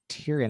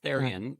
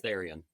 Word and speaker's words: Therien: I have a special guest with me uh from Haystacks Mortgages, Tyrion. Am I Am I even pronouncing your last name right there? Um pretty close. It's Theion. The English is Theion.